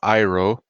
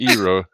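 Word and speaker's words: Iroh: throughout season two well first of all it's iro thank you what did I say don't worry Horizon I mispronounce names all the time I say also Katara red names you said EO oh damn it all right just C too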